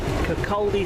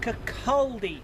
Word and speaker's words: Kirkcaldy: Well, as you can see, ladies and gentlemen, we have just arrived at Kirkcaldy station.